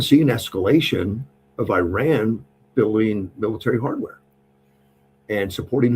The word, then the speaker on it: Iran: It's not Iran, it's Iran.